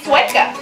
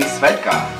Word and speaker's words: Svedka: No, you mean Svedka. No, I mean Svedka. Don't worry guys, it really doesn't matter how you say it. That's actually right. Amalia is saying it in Swedish and I'm saying it in English.